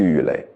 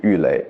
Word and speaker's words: 郁垒: 搁这儿，你可能念错，你会念成神荼巨郁垒。垒哟，那你看，这不生灵涂炭的涂吗？这个不是那打垒球的垒吗？